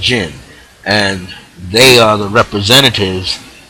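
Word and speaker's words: djinn: called DG or DJ I NN but it's pronounced gin and they are the representatives of that and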